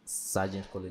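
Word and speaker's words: Sargent College: I saying it right Sergeant Sergeant College yeah Sergeant College what that I mean I I I tried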